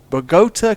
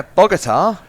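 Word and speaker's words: Bogotá: Don't Americans say Bogota, which is why I say it with that stress. But Bogota. but Bogota makes more sense to me.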